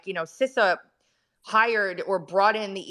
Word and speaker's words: CISA: southern boy like and he's pronouncing sisa wrong he's saying cisa um and then the government attorneys stand up and they're like sisa Sissa and he goes oh that's how you all say it there in DC and it